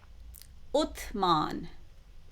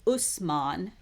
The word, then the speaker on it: Uthman: Uthman, or another version or pronunciation of his name is Usman, and some Muslims also know him as Hazrat Usman or Uthman.